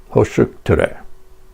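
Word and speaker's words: Hősök tere: We got off the metro at a stop with this name, pronounced Hoshuktere.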